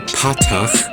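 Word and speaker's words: פַּתָּח: But at least remember that the kamats and the patach are both ah or aw sounds.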